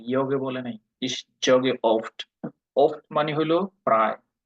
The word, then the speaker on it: oft: ইস জগে অফট। অফট মানে হলো প্রায়। অফটের উচ্চারণটা হলো ইংলিশের মতোই প্রায়, ও এফ টি অফট।